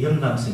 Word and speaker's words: 영감성: 그래서 뒤에 영감성 있잖아요. 영감성은 발음을 잘해야 됩니다. 영감성 하지 말고 영감성.